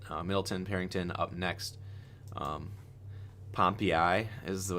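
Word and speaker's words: Pompeii: Um, Pompi is how it's pronounced, not Pompei.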